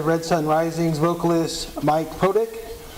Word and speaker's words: Protich: Magazine, and we are here with Red Sun Rising's vocalist Mike Protich. How you doing today? Good, man. It's actually pronounced Protich, but that's okay.